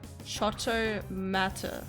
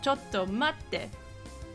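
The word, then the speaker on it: ちょっと待って: Chotomata. That's not how I remember it. What? Chotomata? What do you say? Oh, Chotomate.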